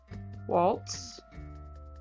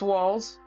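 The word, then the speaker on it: Walz: presidential candidate son walls Waltz not sure how to pronounce his name yet um but yeah they made fun of his learning impaired son what is it wall it's walls okay we have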